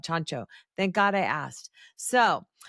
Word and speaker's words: Ciancio: Literally, folks, it's spelled CIANCIO. I would never in a million years thought Chancho.